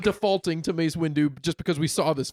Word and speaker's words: Windu: you do what Mace Windu you put the emphasis on the do and not the wind wind um he he's